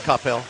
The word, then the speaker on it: Coppell: Yeah, Flash Gordon and Rosemary, Helen Rose's neighbors, and Capel or Coppell. How do you say that? Coppell.